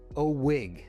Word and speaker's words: OWIG: That's pronounced Oig.